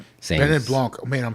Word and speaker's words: Benoit Blanc: Benoit Blanc. Oh, man, I'm saying it wrong. Benoit Blanc.